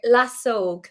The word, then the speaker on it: Lasóg: Lasog. So Lasog. when you see a little accent above Yeah. a vowel in the Irish language, it means you just got to draw it out.